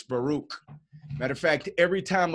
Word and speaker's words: Baruch: ACH we caught we would you hear him saying Barak right Barack hallelujah I remember that song right that's the wrong way to say this Baruch matter of fact every